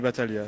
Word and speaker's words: Battaglia: Alors, bonjour Vincent Battaglia. Bonjour, Ça va bien. Est-ce qu'on dit Battaglia ou Battaglia? on dit Battaglia. On dit Battaglia, Ouais, hein, à l'italienne.